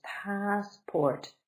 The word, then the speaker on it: passport: 2 syllables, passport. Stress is on the first, so up high, passport, down low. Passport.